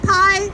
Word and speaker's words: Pai: challenge and there's a reason why pie rhymes with lies because he's out there refusing telling lies and so we're going to say I Pete time stops alive mr.